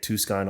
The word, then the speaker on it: Tucson: Tucson is the incorrect way to pronounce that. Oh, okay, sorry. Just like your last name. Yeah, I get Tucson all the time. People flip the S and the C.